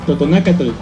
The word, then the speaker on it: Totonacatl: Totonaca es un vocablo náhuatl y la forma correcta en la que se debe pronunciar es Totonacatl.